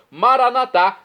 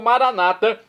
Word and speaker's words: Maranata: para nós e agora eu clamo maranat como dizemos nós católicos ou Maranata como dizem nossos irmãos separados os evangélicos ou protestantes não importa pronúncia o significado é o mesmo vinde Senhor Jesus um